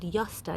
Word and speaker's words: Josta: So it's called Josta, even though it's spelt with a J, and that's because it was actually created back in 1970s in Germany.